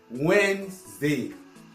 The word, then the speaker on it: Wednesday: Wednesday, voilà un autre problème. On a tendance à prononcer tous les mots, à lire toutes les lettres qui sont dans le mot. Wednesday, non, c'est très difficile à prononcer. Il y a des coucous qui se font, on prononce juste Wednesday. Wednesday. Le N sort, le W sort, le E sort, le N sort, Z. Wednesday. Donc voilà comment on prononce ça.